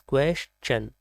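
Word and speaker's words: question: क्वेश्चन, इसको क्वेश्चन मतलब क्वेश्चन या फिर कुछ और भी बोलते हैं, but right pronunciation is क्वेश्चन, सवाल।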